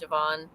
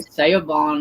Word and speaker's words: Siobhan: But it's pron It looks like Siobhan, but it's pronounced Siobhan. Yeah. Does it look like a Seabon or something?